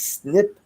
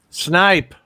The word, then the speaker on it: snipe: So, What is snip hunting? Snipe. Snipe. Well, she says snip hunting.